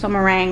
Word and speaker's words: meringue: meringue meringue meringue yep meringue like lemon meringue pie anchor and lesser leisure